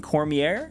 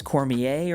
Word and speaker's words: Cormier: First, I want to start with Aang himself, the last airbender, and he's being played by Gordon Cormier, and I've heard people pronounce it a couple different ways, Cormier or Cormier.